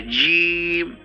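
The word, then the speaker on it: ج: কেন নিচে বললাম এটা এটা হচ্ছে জিম শক্ত করে জিম নোক্তা না থাকলে বলতে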